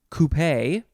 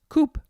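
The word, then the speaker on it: coupé: it is pronounced you could say coupee or just coop either one it is c-o-u-p-e and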